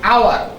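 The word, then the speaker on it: hour: এখন এখানেও আমরা উচ্চারণটা দেখি, এইচ কনসোনেন্ট শব্দ, কিন্তু এর উচ্চারণ কি রকম হচ্ছে? আওয়ার, আ।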